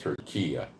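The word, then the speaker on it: Türkiye: Now, they like to have the name of their country pronounced Turkiya.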